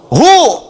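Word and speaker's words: هو: Hu itu singkatan dari huwa. Singkatan dari huwa. Hu disingkat huwa. Kalau Anda wakaf membaca kalimat bahkan dalam bahasa Arab, apalagi Al-Quran, berhenti pada kalimat huwa, maka huwa-nya nggak bunyi.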